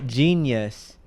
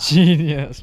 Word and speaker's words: Jeen-yuhs: It's called Genius, a Kanye trilogy.